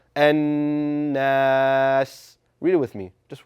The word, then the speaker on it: الناس: Ensure that it's being held in your nasal passage for 2 counts. And that is whenever the letter Noon has that W on it, that strong sign, that shaddah, right? So it should sound An-Nas.